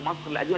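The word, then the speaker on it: مصر القديمة: dans le vieux Caire, qu'on appelle Masr el-Qadim, ou Masr el-Adim, c'est-à-dire vieux Caire, ça on le prononce en égyptien.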